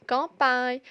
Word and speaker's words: campagne: Dans campagne, champignon, sain et soigner.